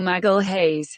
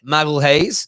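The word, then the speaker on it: Magalhães: Google Translate pronounces it like this: Gabriel Magalhaes. Magalhaes. So I'm gonna call him Gabriel Magalhaes, from Lille, the 22-year-old.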